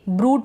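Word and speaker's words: brood: क्या है, बी आर को ब्र पढ़ रहे हैं, इसको भी ब्रूड पढ़ेंगे, यानी ये जो यू है बड़े ऊ की मात्रा के रूप में पढ़ा जा रहा है।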